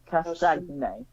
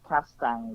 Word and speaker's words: Castagne: Yeah, both Timothy can't pronounce his name either. Timothy Castron. There we go. Castagne. Yeah. Castang or whatever.